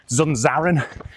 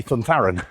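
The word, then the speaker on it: Zunzarren: But they're all Z's, but it's a TH because it's Spanish. Zunzaran, you probably heard it pronounced as at the weekend, but he's Spanish. So it actually would be Thuntharan.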